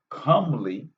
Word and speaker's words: comely: say peaceful no calmly even though it sounds like calm it is not the same comely is spelled c-o-m-e calm is c-a-l-m even though they sound the same commonly means beautiful so it